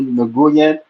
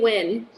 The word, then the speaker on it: Nguyen: when oh so the so the n and the g is silent oh all this time